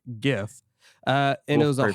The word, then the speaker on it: GIF: did you hear that that's a hard g gif uh and it was